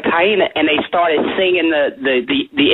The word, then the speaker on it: Taina: correcting me, right before we came on air, Taina.